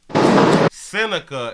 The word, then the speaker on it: Seneca: Seneca is how you pronounce that dude's name.